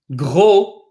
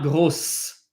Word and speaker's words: gros: The word for fat, gros, we do not pronounce the S. Gros, not grosse.